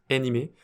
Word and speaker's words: Anime: Donc ils l'ont appelé Anime, je crois que ça se prononce animé. Mais bon, bref, on va l'appeler Anime en français, comme ça ce sera plus simple à prononcer.